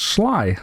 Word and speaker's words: Sly: It's pronounced Sly, like I, with SL or SL at the start, like Sly Cooper the raccoon.